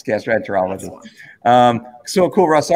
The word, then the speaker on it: gastroenterologist: to a gastro or gastrointestinal on lolologist is that is that the right way to say it what is that gastroenterologist yes gastroenterologist um so cool russ